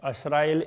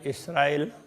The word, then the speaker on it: इसराइल: बनी असराइल, असराइल इसराइल, इस तरह से वो उच्चारण में थोड़ा थोड़ा फर्क है। कोई असराइल कहते हैं, कोई इसराइल कहते हैं।